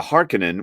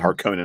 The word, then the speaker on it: Harkonnen: tell from these chapters, the Atreides and the Harkonnen, which by the way, that's how Herbert pronounced it. I used to pronounce it Harkonnen all the time, but the Harkonnen, there's a schism there.